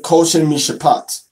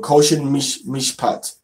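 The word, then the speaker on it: Choshen Mishpat: Now you can say koshin mishapat or koshin mishpat. That would be in a more modern pronunciation, which is still better than breastplate of judgment. All right. Koshin mishpat is how you say it in the modern with the nikud and everything.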